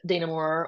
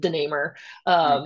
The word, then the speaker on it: DeNamur: my name probably correctly, it's very French-Belgian, and so it would be DeNamur or kind of some derivation of that. Because my family's from Wisconsin, the name's been Americanized. My family pronounces it DeNamur.